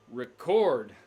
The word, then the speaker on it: record: or two record yeah different stress on syllables often we have nouns and verbs that both have two syllables same spelling however as the noun we put the stress on the first syllable a record and as a verb we put it on the second syllable to record pokes fun at the